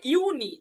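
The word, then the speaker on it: Juni: মাসকে বলা হয় মাই জুন যেটা জুনকে বলা হয় ইউনি দেখেন জুনকে ইউনি জুলাইকে বলা হয় ইউলি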